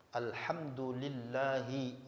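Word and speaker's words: الحمد لله: kedua al-fatihah dari Bismillahirrahmanirrahim Alhamdulillahi rabbil alamin gak boleh dibaca Hnya dirubah menjadi ha alhamdu gak boleh alhamdu gak boleh dibaca alham salah juga jadi dia al-fatihah kalau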